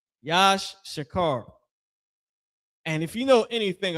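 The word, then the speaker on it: יִשָּׂשכָר: The tribe of Yash Shakar, their name in in uh means he is higher. Yash Shakar. He y at the front, he is he is higher, right? Yash Shakar.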